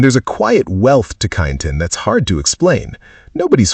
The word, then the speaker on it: Kyneton: Kyneton, Macedon Ranges, pronounced Kyneton. If you call it Kyneton, the wisteria withers slightly.